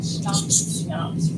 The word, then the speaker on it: SNOPs: SNOPs, right? CH. It's not schnapps like the brand. It is spelled very differently, but this gives us our acronym for the most common elements in any cell.